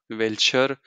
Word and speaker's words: welcher: teacher taught me that whenever a noun a word in German ends with R you don't pronounce it you just leave it or you say uh so you know